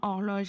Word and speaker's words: horloge: Horloge, alors attention, dans horloge, il y a une lettre muette au début qui est le H.